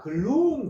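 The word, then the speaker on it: gloom: 그마 글룸 됩니다. 그죠? 글룸.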